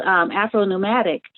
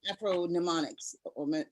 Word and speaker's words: Afro-Mnemonics: And you have a term, speaking of creating terms, called Afro-Nomadic. And if I'm pronouncing it correctly. It's Afro-Mnemonics. Mnemonic, right, exactly.